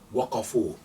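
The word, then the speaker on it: وقفوا: So waaw and alif, by convention, you do not pronounce that alif. So waqafa, waqafa, waqafu.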